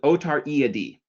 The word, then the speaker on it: Otariidae: The next one is Otariidae. Okay, now you might notice there's two eyes in a row, so we're going to pronounce it Otariidae.